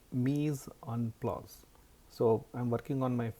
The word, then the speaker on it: Mise-en-place: It's called Mise-en-place. So I'm working on my French pronunciation, but it's to make it simple.